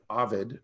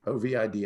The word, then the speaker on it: Ovid: According to the Roman poet Ovid, O-V-I-D, I think that's how you pronounce it, or Ovid, the sculptor Pygmalion could look at a piece of marble and see sculpture trapped inside of it.